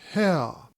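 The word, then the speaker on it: Haigha: happy his name is ha he pronounced it so as to rhyme with mayor I love my love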